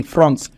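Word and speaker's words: fronds: called France what are they called France France pronounce it me France France f r o n DS France another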